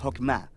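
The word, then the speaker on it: חכמה: En hebreo se pronuncia Hokmah, y usualmente se traduce al español como sabiduría. Es un atributo de Dios que Dios usó para crear al mundo y Jokmah ha sido entretejida en la tela de las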